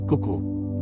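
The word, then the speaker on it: CUCU: The first system was called Cuckoo, pronounced Cuckoo.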